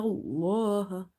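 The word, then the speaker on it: الله: Lam is heavy because there is a fatha before the letter lam in the word Allah. Other than this word Allah, if you see lam anywhere, it will always be light, like this ala. But in the word Allah specifically, if there is a fatha or dhamma before it, you will make it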